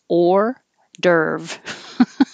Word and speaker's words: hors d'oeuvre: like ear irreparable and this is reduced down to just the very basic american sounds or dirv hors d'oeuvre it means